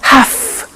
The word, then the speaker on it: have to: computer at work now did you hear my pronunciation I have to notice I don't say V I say F have half it becomes have to have to becomes in pronunciation have to have to okay so I have to